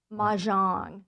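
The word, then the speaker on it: mahjong: Majan.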